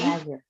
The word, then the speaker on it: imagine: Where does the stress on the verb fall? In third, in this Second syllable. Second syllable. The stress in verb is always on the second syllable. So ma is the syllable that is stressed. So imagine, right? Ma is the one. The second syllable is what is stressed here.